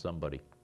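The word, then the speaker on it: Szombaty: And the fellow who was the secretary, private first class, his name was S-Z-O-M-B-A-T-Y, pronounced somebody.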